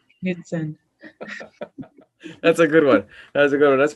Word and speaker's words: Knutsen: My last name, Knutsen, is Knutsen. And a lot of times people butcher the pronunciation because naturally in English we silence the K. So I always tell people it's like rowing a canoe with Zen.